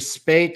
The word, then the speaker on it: Spaight: linkedin so my name spate spelled with an a i ght but also selling with